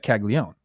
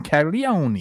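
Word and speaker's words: Caglianone: That's how you say his name, Jack Caglione. Right. Sometimes Jake puts a little Italian on it and calls him Caglione.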